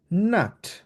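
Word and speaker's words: Nacht: এখানে সিএইচ আছে, সিএইচটাকে আমরা ক্ষয়ের মতো উচ্চারণ করব, বলবো গুটে নাক্ট।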